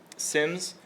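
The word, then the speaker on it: SIEM: Um SIMS, I've been pronouncing this wrong my entire life. I thought it was seam. Hope has informed me it's actually pronounced sim.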